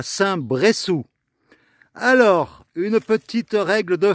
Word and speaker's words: Saint-Bressou: Après les leçons d'espagnol, alors en français, quand il y a deux S comme ça se prononce se. S'il n'y en avait eu qu'un S, ça se serait dit Brezou.